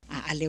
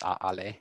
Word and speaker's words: ʻaʻale: after them, is that when there's no word following it, especially for Lillian Victor, it's more likely to have an o pronunciation. So for instance, we have a-ole versus a-ale vau. So you hear there's a word after it, vau, so it becomes a-ale and it's not a-ole.